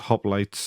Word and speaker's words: hoplite: So hoplite, that's hoplites. That's how you pronounce it.